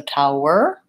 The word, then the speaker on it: tower: towel and tower Tao they both have the same first sounds which we I call that bow ow in IPA it looks like this Tao whoa first I have a dark L there so there's what we were just talking about in the ble incomparable at the beginning of class we still have the UH sound tower er I just have my tight back earth sound so tower versus towel towel versus